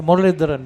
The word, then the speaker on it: Muralidharan: Talking about the bowler's action, Paul, to me it looked like Muthai Muralidharan bowling. Yes. You know, we both said the same name. You just pronounced it correctly.